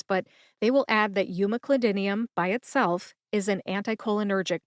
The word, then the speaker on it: umeclidinium: where we talk about Pharmacy topics including drug pronunciations I am your host and Ohio pharmacist Kim newv we're talking about umac clidinium today this is episode 298 what is umac